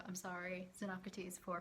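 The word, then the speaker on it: Xenocrates: here so uh basically i think the name is pronounced zenocrates so i'm sorry zenocrates for pronouncing your name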